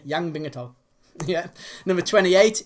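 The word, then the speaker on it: Yan Bingtao: And that's exactly how you pronounce it as well. I even checked today. Yang Bingato.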